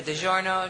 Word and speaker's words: DiGiorno: Like the pizza, DiGiorno.